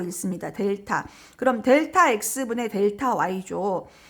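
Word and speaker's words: Δ: 그 다음에 이 앞에 나오는 이 세모 모양은 뭐라고 읽냐면 델타라고 읽습니다. 델타.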